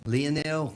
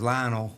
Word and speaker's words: Lionel: Leonel I always thought was Lionel until I heard somebody say is you know the way they pronounce it and where he's